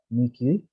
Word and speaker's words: Miki: How is that your name is pronounced? Miki? Yes.